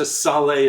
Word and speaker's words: Salé: I go as close to Salé as I can, and he accepts it.